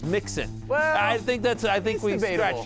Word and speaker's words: Mixon: 13.4 points for Joe Mixon. We've been wondering that for ages, Matthew. The whole staff has. By the way, and I don't think that's really how you pronounce his name. It's Mixon.